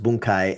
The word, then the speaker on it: bunkai: Well, yeah, because it sounds like bunk and uh and you're supposed to be pronounced boonkai and it means analysis